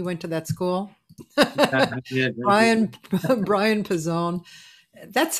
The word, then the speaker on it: Pezzone: And then I, out in the hair, a couple conductors started to say, why don't you pronounce it Pezzone, like they do in Italy?